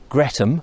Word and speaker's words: Greatham: and not far from Greatham Bridge, or Gretham, as I think they also like to pronounce it.